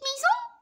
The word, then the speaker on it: maison: Alors, qu'est-ce qu'il y a dans la maison de Didier? Dans la petite maison. Non, on ne dit pas maison. Alors, pourquoi ici S se prononce comme Z? Parce que deux voyelles.